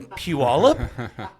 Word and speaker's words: Puyallup: Like from Puyallup? And I'd be like, you said it right. Yes, you said Puyallup right.